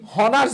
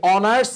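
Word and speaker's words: honours: এন হবে আবার দেখো আমরা বলি হনার্স ডিগ্রি আমরা এখন অনার্সে ভর্তি হব আমরা কি এভাবে বলি নাকি অনার্স বলি অনার্স বলি এজন্য এন হবে তাইলে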